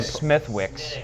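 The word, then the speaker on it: Smithwick's: Wicks I I I'm almost positive might be Smithwick SMI I can tell by the H that's how it's pronounced smiix yeah smiix yeah I was way off not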